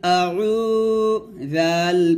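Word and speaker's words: أَعُوذُ: পেশ উফ দিবেন আইন ওয়াও পেশ উরকম কুল আউ জাল পেশ জু কুল আউজু আউজু এখানে আমরা আইনের উচ্চারণটা ভুল পড়ি তো আইনের উচ্চারণটা কিন্তু এখানে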